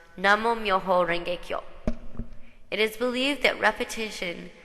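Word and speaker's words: Namu Myoho Renge Kyo: In Japanese, this consists of 7 characters and is pronounced Namo Myoho Renge Kyo.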